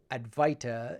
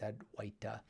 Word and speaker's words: Advaita: from my sanskrit studies Advaita is how most people call it but actually it's had white and same thing with